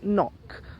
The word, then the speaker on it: knock: certain special knot K n ot you don't pronounce the K another word which starts with KN is knock when you knock at the door knock knock